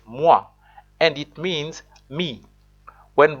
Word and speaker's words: moi: Actually, in French, the word is pronounced moi, and it means me.